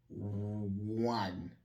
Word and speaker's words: one: Quelle est la véritable prononciation de ce O-là? One man show. Je vais aller doucement dans la prononciation. One. C'est le W. Le W en phonétique, W.